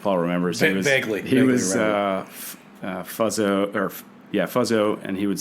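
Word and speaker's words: Fuzzzo: He was Fuzzo, and he would say it's F-U-Z-Z-Z-O, but the middle Z is silent.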